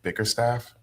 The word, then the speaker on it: Bickerstaff: Is it Bickerstaff?